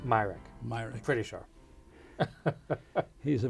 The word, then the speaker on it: Myrick: Svante, how do you pronounce the last name? Myrick.